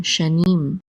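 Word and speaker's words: שָׁנִים: And then we have the shin with the kamatz, which says sha, and then a nun with the chirik, and the yud together says ni, and the mem sofit closes the syllable out, so this is nim, shanim.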